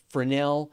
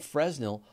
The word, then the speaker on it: Fresnel: considered a valid pronunciation I said Fresnel lens and people give me a hard time in a recent episode apparently according to the internet for Nell and Fresnel are equally valid ways to pronounce Fresnel